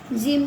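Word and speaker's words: gym: जिम पढ़ेंगे।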